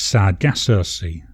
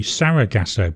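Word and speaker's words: Sargasso: I spell it right it's sad gasy I don't know why my brain keeps telling me it should be sarag gaso but it's not SAR gaso and then we'll do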